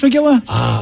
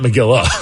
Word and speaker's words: McGill: Who played Miss McGilla? McGill, not McGilla.